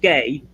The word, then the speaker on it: ga: G to a now G A is Irish it's pronounced gay which I think is